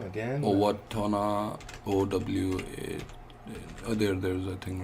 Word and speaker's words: Owatonna: Now we have a little bit of issue that we know how to pronounce this Okay. city. Yeah. So let me try. It's Owatonna, Minnesota.